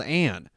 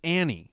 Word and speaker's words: Anne: She recently said she doesn't like to be called Anne. It's Annie Hathaway. That's what she likes. But it's spelled Anne.